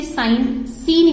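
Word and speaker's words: sine: साइन को कुछ लोग सिन भी प्रोनाउंस करते हैं बट जनरली साइन प्रोनाउंसिएशन ज्यादा ठीक होता है।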